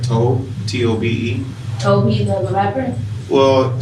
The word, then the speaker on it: Tobe: But I also have been listening to artists, I'll make sure I say it right, Tobe, T-O-B-E.